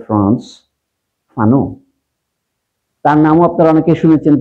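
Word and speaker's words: Frantz Fanon: আমি অতি সংক্ষেপে বলছি, আলজেরিয়ার মুক্তি সংগ্রামীদের একজন নেতা ছিলেন এক ভদ্রলোক, তার নাম হলো ফ্রান্স, উচ্চারণ হলে ফ্রান্স ফানো, তার নামও আপনারা অনেকে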